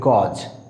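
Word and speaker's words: gauge: গেজ, দেখো এখানে এই ইউ রয়েছে, এর জন্য কি হয়েছে, এই সাউন্ড হয়েছে, আই মিন ডিপথংস এই হয়েছে। গেজ আমরা সাধারণত এটা ভুল উচ্চারণ করে থাকি, আমরা বলি গজ, বাট it will be গেজ।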